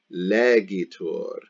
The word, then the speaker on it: legitur: Notice it is different from legitur. Legitur with an I, and the accent is on the E, and then legetur with an E.